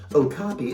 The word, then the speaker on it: okapi: you're going to see the okapi that's pronounced okapi it looks like a